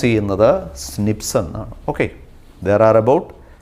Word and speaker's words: SNP: this is pronounced as slips snps in a pronounce in the snip sun okay there are about 1.4 million locations